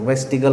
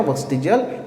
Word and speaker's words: vestigial: बोलेंगे student, वेस्टिगल organ, और वी मे say that वेस्टिजियल organ, pronunciation कर सकते हो, वेस्टिगल ऑर्गन या वेस्टिजियल ऑर्गन।